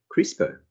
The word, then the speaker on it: CRISPR: and even insects this is known as crispr pronounced as crispr which stands for cluster regularly interspaced short palindromic